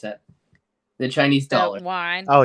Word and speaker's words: yuan: Yeah, or how do you pronounce that? The Chinese dollar. Yuan. Oh, yuan.